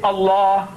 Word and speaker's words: Allah: The only thing I said, I'm telling you is that you write as you like, but pronounce my language the way I want you to. Say Allah.